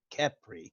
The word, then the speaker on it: Khepri: in town what was your name again Khepri bring that's that can you spell that for me I hear you're good you're